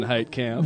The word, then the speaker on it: Heitkemp: take the raids here my name is height Camp remember what remember you remember what he